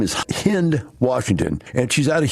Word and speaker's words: Hind: for us today uh the lady's name is hind washington and she's out of houston she is